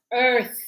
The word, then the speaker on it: Earth: live on yes Earth e a r th the th how do I pronounce the th remember tongue between your teeth and blow so we go Earth Earth not it is an